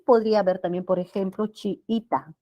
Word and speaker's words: chiita: Y podría haber también, por ejemplo, chiita, con vocales iguales, ¿no? Chiita. ¿Ah? Allí, la sílaba tónica es I, es grave que termine en vocal, no se coloca la tilde.